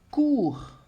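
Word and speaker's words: cours: Aqui, com o U, eu tenho, por exemplo, a palavra cour. Olha o som de U. Cour, né? E o que acontece é que o S eu não pronuncio, tá na minha lista aqui, d'accord?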